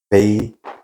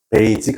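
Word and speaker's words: basic: 자, 미순들 이렇게 발음 아이디아. 아이디어 아니에요. 아이디아. 베이식. 알겠어요? 만약에 여기 내가 베이직이라고 말했다. 바꿔 말할게요. 한 번도 외국인이랑 대해본 적 없어요. 그죠? 베이직 아닙니다.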